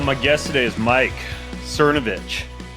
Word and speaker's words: Cernovich: All right, well, my guest today is Mike Cernovich. You pronounce it Cernovich, not Cernovich, right, Mike? Right, or Cernovich, I guess, is the proper way, but we go with the Anglicanization of it.